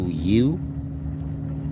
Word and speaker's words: YHWH: They both have to do with you as an individual, but you and I, this is a matter of YHWH, which is pronounced you.